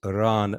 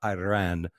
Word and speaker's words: Iran: people but uh you continue to pronounce our country incorrectly it's Iran not Iran you know the guy's